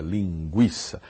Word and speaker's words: linguiça: gente vai comer linguiça ninguém vai comer linguiça vamos continuar com a palavra linguiça com a pronúncia linguiça a pronúncia não muda muda a maneira de